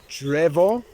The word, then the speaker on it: drzewo: I know that's drzewo.